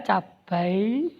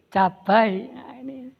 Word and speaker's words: cabai: nomor 6 yang beku harga cabai kan disana ga diftong ai oi awan begitu cabai tapi membacakannya membacanya akan cabikan begitu tulisannya cabai santai-santai oke yang bagus